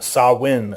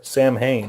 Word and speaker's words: Samhain: everything you get in saw win or Samhain however you want to pronounce it and I know for